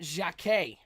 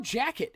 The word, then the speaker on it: Jacquet: at pick number 16 Bennett Jacquet or jacket if you are a horrible American with horrible pronunciation strong safety going to